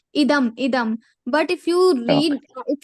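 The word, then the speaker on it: इदम्: Like, for example, if you take shloka number 2, we are pronouncing like idai jnanam upashritya mama sadharmya magataha. Yes. So, but actually it is idam jnanam upashritya.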